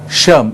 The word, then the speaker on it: SHRM: what is acharam incidentally we call it uh phonetically as an ash erm but the e just let that be shum is in india shrm as we call it